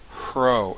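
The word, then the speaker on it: rho: It's pronounced R-H-O. Hro. And it has an R sound, except when it's in the beginning of a word. When you find a Hro in the beginning of a word, it has an RH sound.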